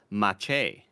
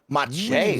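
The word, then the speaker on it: Maciej: D Connor also kind of confirms with M Solstice that Macieej is pronounced Mache. Mache, really?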